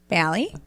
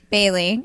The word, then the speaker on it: Bailey: Katrina Lee Zeus and balli Bailey I keep saying his name wrong Bay because I'm awesome I keep thinking like the liquor or something I don't know but